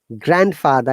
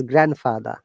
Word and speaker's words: grandfather: in english d is not pronounced so it is not grandfather it is grandfather okay father yes grandfather